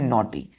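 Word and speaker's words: knotty: पढ़ते क्या है इसको के यहां पर साइलेंट हो जाता है पढ़ते हैं नॉटी एन से पढ़ते हैं क्लियर है तो एन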